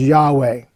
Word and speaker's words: Yahweh: the four Hebrew consonants, usually pronounced as Yahweh.